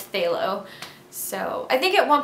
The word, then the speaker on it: phthalo: Also, in the video, I kept pronouncing phthalo as pathalo, and I know that's not how you say